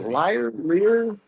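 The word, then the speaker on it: lyre: Is it liar?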